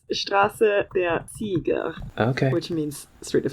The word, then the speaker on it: Straße der Sieger: Champions is English, so it's Straße der Sieger.